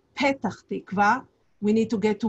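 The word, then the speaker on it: Petah Tikva: town but since um usually or often arabs do not pronunciate the peak letter instead they have it as a b um he says when they arrive at the airport we need to go to betatechva instead of pettarchtekwa we need to get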